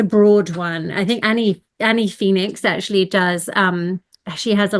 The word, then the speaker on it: Phenix: It's spelled Phoenix, but she PH, pronounced yeah, Phoenix.